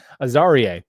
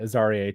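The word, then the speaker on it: Azareye'h: Azarie. That's how Abraham, who announced the pick, said it. Azarie Thomas.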